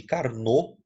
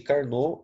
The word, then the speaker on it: Carnot: gasoso chamado ciclo de carnor tá o pé mudo não é carnot tá bom ar nó e essa máquina de carnou ela possui o rendimento